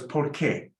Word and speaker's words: porque: But now join it with porque, and rewrite above that word P-O-R-K-E, because you don't pronounce a U after a Q, like how you do in que tal. So it's porque, because.